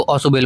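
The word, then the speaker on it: Ausubel: ओसबेल या ओसुबेल इनको अलग-अलग दोनों नामों से मतलब मतलब स्पेलिंग सेम होता है। कोई इसको ऑसुबेल बोलता है। कोई ओसबेल बोलता है।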